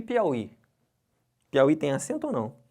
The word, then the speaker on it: Piauí: jogo essa pedrada para vocês aqui ó e Piauí Piauí tem acento ou não será que eu